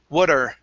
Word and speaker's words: water: at the beginning okay use a flap t water what are you doing